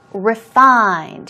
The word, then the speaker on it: refined: dramas what a refined refined here we go stress goes on the second syllable and as I told